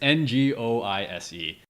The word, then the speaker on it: Ngoise: So because my last name is, so there's the G is silent, so I put in silent G in Noise.